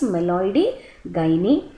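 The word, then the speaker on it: Meloidogyne: by meloid gy species the pronunciation is meloi gy then late blight of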